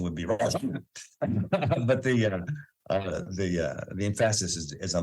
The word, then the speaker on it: Rashomon: the Japanese film Rashomon, or actually the correct pronunciation would be Rashomon. But the emphasis is on the different syllable, but Americans call it Rashomon, which is a single incident that is told from 3 different perspectives.